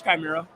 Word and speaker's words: Chimera: I say it always wrong too, but it's Chimera.